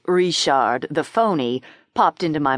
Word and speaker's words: Richard: He pronounced it Rishard the phony popped into my mind.